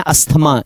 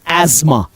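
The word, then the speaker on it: asthma: जैसे इसको सब सॉरी इसको सब पढ़ते हैं अस्थमा इट इज एज्मा ये प्रोनाउंसिएशन इसकी है एज्मा अब एक अंग्रेज कैसे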